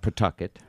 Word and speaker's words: Pawtucket: And of course, we all knew the rhymes about Pawtucket. Right. Yeah, the rhymes with bucket.